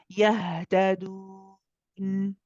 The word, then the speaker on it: يهتدون: Yahtadun. يهتدون. So you'll notice, those of you that are listening in, of course, the ha is again, you'll notice I let it run.